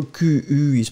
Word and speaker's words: qui: Alors, in that case, this is qui, remember, Q-U is pronounced like K-K-K, and then E is pronounced like E, so qui.